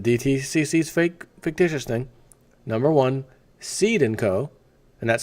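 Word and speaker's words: Cede & Co.: Essentially, the one way everyone owns stock is, number one, and this is the DTCC's fictitious thing, number one, Seed & Co., and that's spelled C-E-D-E, by the way.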